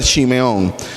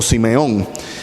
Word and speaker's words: Simeón: Andrés fue el primero Simón de hebreo en hebreo se pronuncia Simeón o Simeón Qué quiere decir ha